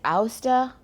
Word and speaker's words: ouster: Is it OUSTER?